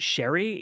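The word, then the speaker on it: Cherie Chung: I want to say, just my gut is telling me to say Cherry Chung. Okay. Although I pronounce it Sherry because I've asked people, "How do you say her name?"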